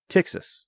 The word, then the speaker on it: Ptyxis: know announcing this um is tix txas T and it does TX not taxes although that's very fun to say um and it does start with a P which is silent so that makes it very confusing just like terod P